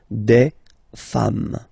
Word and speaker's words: femmes: form, and then you just add this S at the end, and as we said, you don't pronounce it, so you get des femmes, okay?